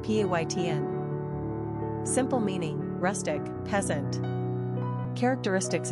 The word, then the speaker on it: Payten: Pronunciation, Payten.